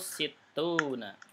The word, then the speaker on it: ستون: Tadi 60 bacanya apa? Situn. 60 situna.